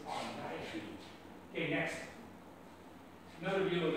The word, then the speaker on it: Argiope: Incidentally, a lot of people pronounce it argio. The accepted pronunciation is argio.